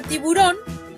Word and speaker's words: tiburón: Por ejemplo, en la palabra tiburón, la sílaba tónica es la última.